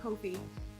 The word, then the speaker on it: Ko-fi: It's spelled 𝗀𝗲𝘁. That's why I'm saying Ko-fi, and it I can offer them there at